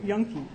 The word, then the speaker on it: Juhnke: And next is Yunke. Yes, and that's spelled Juhnke.